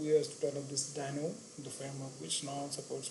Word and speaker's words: Deno: We pronounce as Deno.